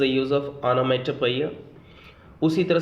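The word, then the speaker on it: onomatopoeia: दोबारा मैं बोल रहा हूँ, ONO, honour, MATO, matter, पोइया, POEIA, ओनोमेटोपोइया। इसका सही प्रोनाउंसिएशन है ओनोमेटोपोइया।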